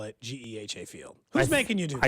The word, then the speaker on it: GEHA: Or Geehaw, like Chris Jones said. that one time. GEHA.